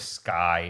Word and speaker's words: SCCY: Guys, there are tons of videos of Sky. It's spelled SCCY, praising these guns.